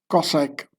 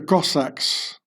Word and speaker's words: Cossack: Then who really are the Cossacks, who partially look more Oriental than European? The name Cossack is pronounced more like Kazakh, which is Turkish, means conqueror, and as I feared, there are also Muslim Cossacks.